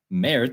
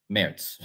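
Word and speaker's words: Merz: Meritz sounds like Meritz in German. So they sound the same.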